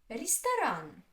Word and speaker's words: ресторан: Ресторан. Ресторан. Ресторан. Three. Which is stressed? The third one.